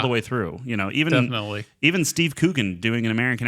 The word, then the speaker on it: Coogan: The best thing I can movie that I've ever seen Steve Coogan in, I got that last name wrong, I'm sure. Coogan, thank you.